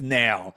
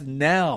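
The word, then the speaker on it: knell: I always thought it was a death nail. Yeah. No, it's a death nail. How do you spell it? K N E L L.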